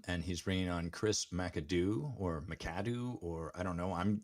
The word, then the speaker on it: McAdoo: That was a McAdoozy. There we go. McAdoozy, yeah. It is McAdoo. So if you're familiar with the old Roger Miller song, McAdoo, McAdoo, that's the pronunciation, which definitely makes me